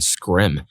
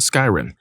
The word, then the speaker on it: Skyrim: Scrolls game I said Oh you mean Skyrim he laughed condescendingly and said no I mean scrim thinking he was just mistaken I was like oh no it's called Skyrim no it's not it's pronounced scrim at that point I